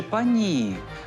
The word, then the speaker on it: пані: Але ж чому тоді окремі мовознавці радять наголошувати другий склад пані? Наголос на і допоможе уникнути неоднозначності.